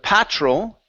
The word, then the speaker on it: patrol: Okay, next up we have the word patrol instead of patrol.